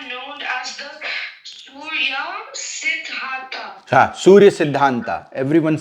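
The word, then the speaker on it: Surya Siddhanta: You don't have to say ta, right? Why? Because British and they they use a because they can't pronounce sadhant.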